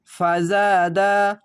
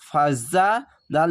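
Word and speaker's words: فَزَادَ: মিলাবেন দিয়ে পুরোটাই মিলাবেন এভাবে আপনারা প্র্যাকটিস করবেন ফাজাদা জাবার পাঁচ খালি আলিফ এক আলিফ টিনে পড়বেন ফাবার ফা যা আলিফ জবর জা ফাজা দাল জবর দা ফাজাদা এই জা উচ্চারণটি ঝিন ঝিন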